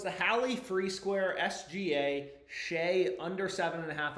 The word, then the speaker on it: Shai: Okay, it's not Shai, it's Shay.